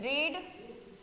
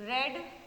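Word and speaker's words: read: ए रेड यह देखो रीड कि तीनों में स्पेलिंग सेम होती है लेकिन जब हम इसे 5 में बोलते हैं या फिर थर्ड फॉर्म में बोलते हैं तो हम उसको रेड प्रोनाउंस करते हैं जैसे आई हैव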